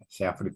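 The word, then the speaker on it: Shafritz: SFrid sfrit dibacanya sfrit shfrit. Sfrit.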